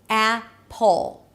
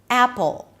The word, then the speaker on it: Apple: If that's hard for you, think as if you're adding an O sound, a neutral O sound, between the P and the L. Apple. Apple.